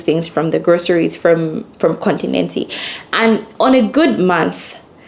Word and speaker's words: Continente: So typically we actually buy from Continente or Continent. I would say Continent, but that's not the Portuguese pronunciation.